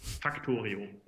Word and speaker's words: Factorio: So if I would read the name of the game completely German, it would be Factorio. So there's a R, the Oreo, it's more Oreo, Factorio. This is how a German would pronounce this game.